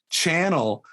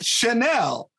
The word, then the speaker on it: Chanel: the label and i was like channel who would wear this no joke channel it was chanel so like and my wife's like you mean chanel i'm like oh is